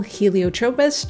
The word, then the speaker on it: Helio Tropez: So it's Helio as in another name for the sun, and Tropez as in the city of Saint Tropez in France.